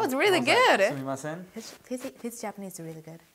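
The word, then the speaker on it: すみません: Sumimasen. Sumimasen. Good. That was really How's good. that? Sumimasen.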